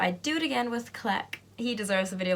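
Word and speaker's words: Cleck: video fact number one his name is click that's his passport name so you say this is how you spell it CL e ck click click that's his name that's also his name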